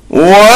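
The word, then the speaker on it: واو: This should be pronounced making the mouth like a blossoming bird in which two lips come together and project forward, as aw, bow, taw, law, saw.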